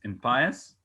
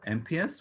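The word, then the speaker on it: impious: even the expression is in pious or mps both pronunciations are correct for so unlimited a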